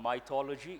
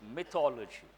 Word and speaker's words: mythology: my ecology please remember Indians mispronounces world it is not might ology it is mythology it comes from the